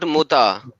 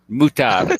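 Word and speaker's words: mut'ah: you say that hey not mutha muta come on man no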